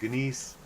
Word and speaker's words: gneiss: You say it like you would gnome. Or you could do the Great Space Coaster and be like Gary Gnu. You could say Gnu, you could say Gneiss, or you can say gnome.